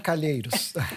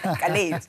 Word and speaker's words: Calheiros: del Senado, cuyo nombre no me atrevo a pronunciarlo en portugués, si me ayuda. Calheiros. Calheiros.